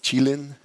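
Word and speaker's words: Qilin: think that's an appropriate name uh it's actually pronounced chilin um and uh that's it thank you excellent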